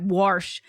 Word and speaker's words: wash: is regional anymore oh except wash take the there's no R in wash oh don't get me